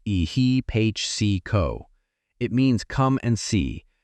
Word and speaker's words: ehipassiko: The poly word for what the Buddha offered instead is ehipo pronounced eh he po.